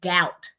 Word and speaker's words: doubt: WR we don't hear W we but we hear right wrong silent B usually at toward the end of a word doubt subtle we don't hear that there right so we can